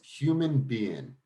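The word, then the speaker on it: Human Be-In: So the name of the event was Human Being. So it was BE-IN.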